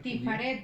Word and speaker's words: Tiferet: Tifaret, ¿verdad? Tiferet, sí. Tiferet, perdón. Puede Tiferet. ser Tiferet o Tifaret porque la AE Tiferet. de los judíos es impronunciable, Tiferet. Como si no tuviera E, Tiferet.